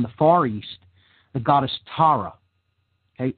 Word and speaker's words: Tara: Far East, the goddess Tara. Okay, very similar in pronunciation. Okay, same basic phonetic roots, Tara. And that's spelled T-A-R-A, for those that want to look into this goddess.